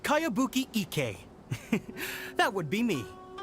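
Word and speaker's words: Kayabuki Ikkei: one i've never heard of it hmm by cowabunga icky this is a really strange name who's this cowabunga it's pronounced kayabuki ek that would be me outlander brigade is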